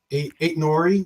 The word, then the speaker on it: Aït-Nouri: Ryan Aït-Nouri.